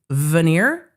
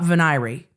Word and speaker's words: veneer: stand and fight on that it is veneer not venry. I cannot wrap my brain around the pronunciation of veneer being veny.